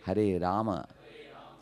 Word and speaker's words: Rama: Hare Rama. Hare Rama. Rama Rama. Hare Hare. See, in Hindi when you write Rama, you say, Hare Ram.